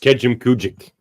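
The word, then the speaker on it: Kejimkujik: Now pronounced Kejim Kujik.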